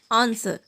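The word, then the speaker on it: answer: Letter W वहाँ silent होता है जब कभी भी एस डब्लू के पहले आता है, जैसे कि आंसर, शोड।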